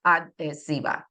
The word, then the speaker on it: adhesiva: La cinta adhesiva. Remember, the H is silent there.